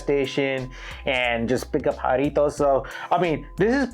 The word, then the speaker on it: Jarritos: Jarritos.